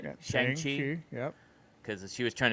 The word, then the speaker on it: Shang-Chi: Yeah, Shang-Chi.